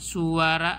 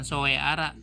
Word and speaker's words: Soeara: Namanya Suara Asia, dibacanya suara bukan soeara ya, Suara Asia. Tulisan zaman dulu O sama E dibacanya U.